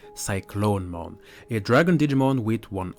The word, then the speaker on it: Cyclonemon: on a dismal called cyclone iman as I call it but I think the right pronunciation would be cyclone moan a dragon Digimon with